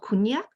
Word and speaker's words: konjac: I launched a konjac facial sponge. Have you ever used that? No, not. So depending on, of course, in Japanese, it's called kunyak. So it's different pronunciation, Western and East.